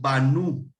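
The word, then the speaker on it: בָּנוּ: Aquí tenemos banu. El acento está en rojo, nu.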